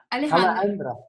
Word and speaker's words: Alejandra: Am I pronouncing your name correct? Yeah, Alejandra.